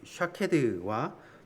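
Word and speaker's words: שָׁקֵד: 왜 그러냐면 이 살구나무에 해당하는 히브리어 이 샤케드와 또 말씀을 지키다 할 때 지키다에 해당하는 히브리어 발음이 거의 비슷합니다.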